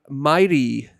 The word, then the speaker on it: Miree: This is Drummers Only Radio, and we're here with the doodliest of dudes, the YouTube and amazing drumming sensation, Myrie, I believe is how you say it.